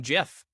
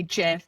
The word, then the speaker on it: GIF: friend now because so many people keep saying jif and i don't care it's gif i i'm gonna i'm i'm magician right now i don't care what the creator of it said it's gif hard g did you never heard